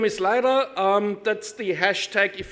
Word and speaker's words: Leyrer: you H hello and welcome my name is lra if you can't pronounce it or if you're not sure Martin